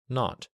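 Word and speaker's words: naught: were supposed to call the zero in the telephone number he pronounced not the number was 2B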